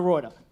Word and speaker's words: Roorda: Please give it up for Professor, whose Dutch surname you pronounce with 1 O. Dr. Roorda.